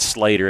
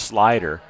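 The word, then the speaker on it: Sluyter: uh 27 yd line I said Slater his name is pronounced slider and it doesn't even look like Slater or slider how he spells it it's s l u y t r pronounce slider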